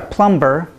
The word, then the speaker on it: plumber: you need to because these words we do not say the bee and if you're learning English you may read the B and want to pronounce it but we are not